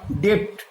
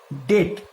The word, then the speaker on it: debt: আবার ডেপ্ট, ডেপ্ট, DEBT, ডেপ্ট, কিন্তু উচ্চারণটা কিন্তু ডেপ্ট হবে না, উচ্চারণটা হবে ডেট মানে দেনা।